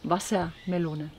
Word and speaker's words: Wassermelone: Wassermelone.